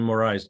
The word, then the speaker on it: Moraes: right sorry can you state your name and spell it for our secretary please yeah my name is moraes last name moriz m-o-r-a-e-s Jr okay thank you I'm the homeowner